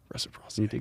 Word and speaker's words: reciprocity: yeah is that how you say it yeah reciprocity great thank you yeah i've got three things